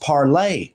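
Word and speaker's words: Parler: about it is hilarious it was originally pronounced parlay the french pronunciation but when these scholars who they purposefully market themselves to refuse to do that it was changed to parlor which is of course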